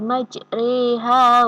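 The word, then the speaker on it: مجريها: Jadi tidak dibaca majriha, juga tidak dibaca majreha, tetapi bacanya adalah majriha, mencondongkan antara bacaan fathah dan kasroh.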